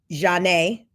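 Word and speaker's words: Zhané: There was Craig King, who produced on R&B duo Zanae's breakout album, pronounced Janae, in 1994, along with other 90s acts, later working with the likes of Ludacris, Kanye West, Wiz Khalifa, among others.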